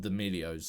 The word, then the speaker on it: D'Amelio: Then it was Kardashians, and now we got D'Amelios. Like, are they called D'Amelios? Like, what the fucking name? What's their name? I don't know. D'Amelio. Yeah. You're saying it right.